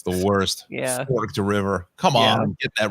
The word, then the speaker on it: Forked River: a lot of Jersey names that certain people mispronounce and they've been here for how many years Right Fork River yeah Forked River oh it's the worst Forked River come on get that right yeah or uh